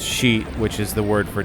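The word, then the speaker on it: 四: yeah Japanese Superstition four is unlucky because it's pronounced sheet which is the word for death yeah you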